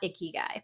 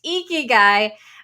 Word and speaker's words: ikigai: my favorite tools called ikigai not icky guy pronounced ikigai which is a meaning